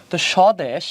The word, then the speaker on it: স্বদেশ: খেয়াল করো কিভাবে বলছি বফলার উচ্চারণ সদেশ এটা হয়ে যাবে স্বদেশ তার মানে সিম্পল জিনিস সেটা কিভাবে খেয়াল করতে হবে শুরুতে বফলা আছে তানে বফলা যদি শুরু থাকে তাহলে উচ্চারণ হবে না তাহলে আমরা কি লিখব